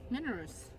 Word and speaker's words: Minorus: Minorus. Yeah, Minorus. Oh, Minor. Yeah, so it's Minor like Minotaur.